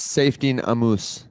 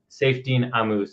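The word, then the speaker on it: Saifedean Ammous: author's name it's like I've heard him pronounce it himself as safine amus safine amus I think it's a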